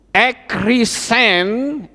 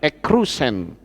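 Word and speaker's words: ἐκήρυξεν: ya, kalimat atas ini ekrisen sebetulnya kalau dilihat itu yupsilen ya, jadi bacanya ekrusen ya.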